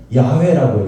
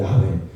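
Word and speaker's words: 야훼: 자음으로만 내자 돼 있어요 그걸 우리가 그냥 발음에서 뭐라 하냐면 야외라고 해요 야회 근데 그들은 하나님이 나온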